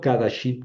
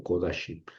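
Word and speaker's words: קֳדָשִׁים: No leo kadashim, que sería lo normal, sino kodashim.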